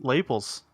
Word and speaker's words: lapels: Yeah, it's Lapels. It's Lapels, God, 100%. it's crazy. And Lapels rhymes with Naples.